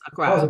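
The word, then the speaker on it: Accra: I went to let me make sure I pronounced it right Acura okay Acra Acra yes Acra beautiful city yeah yeah did you did you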